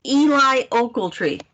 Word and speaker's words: Eli Ocheltree: you already explained oh my name is pronounced eli oakletry seriously women are never